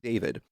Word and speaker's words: D4vd: And according to Wikipedia, David Anthony Burke, known professionally as D4 DVD DV D VD, sorry, D4 VD, pronounced David, is an American singer and songwriter.